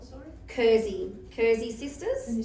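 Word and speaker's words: Kerze: So, Kurzy is the German word for candle. Uh because my mom is was German. Um so yeah, what's it called? Sorry. Kurzy.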